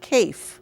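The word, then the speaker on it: Kaffe: And his first name is spelled K-A-F-F-E, but it's Kafe.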